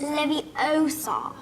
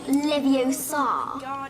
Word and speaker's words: Leviosa: eye out you're saying you're saying it wrong it's Leviosa not Leviosa you do it then